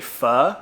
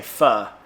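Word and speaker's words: phở: wrong and it's actually Pho because in Vietnamese there's six tones and we were saying Pho and apparently that means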